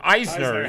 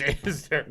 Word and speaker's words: Isner: A lot of Jews pronounce it Eisner. Right, my name is Isner. Eisner.